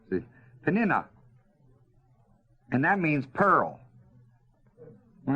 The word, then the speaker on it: Peninnah: No, it's got a It's a short umlaut over the i in my Bible, so it isn't long. See, Peninnah.